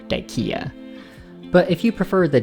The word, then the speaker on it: Dyckia: Excuse my German, but his name was Josef zu Salm Reiferscheidt Dyck, so it seems more correct to pronounce the name as intended Dyck than add the ending ia for Dyckia.